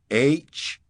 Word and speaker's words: huh: The first is spelled H-U-H and pronounced, huh?